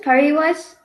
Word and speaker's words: Pariwash: Periwash? Periwash? It's just Pariwash, but. it's fine how you pronounce it. You can say Pari if you want.